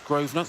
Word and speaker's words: Grosvenor: I think it's Grosvenor.